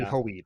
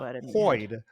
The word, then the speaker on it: Hoid: They're long vowels, so it would be Hoid. Hoid. It's going to so be not Hoed.